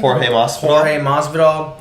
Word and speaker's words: Jorge Masvidal: Where George, how do you pronounce his name? Jorge Masvidal.